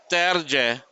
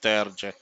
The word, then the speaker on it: Terje: So what we did is we uh, we asked Terje if he wants it pronounced as Terje or Terje, and he said he likes it pronounced as Terje and not Terje.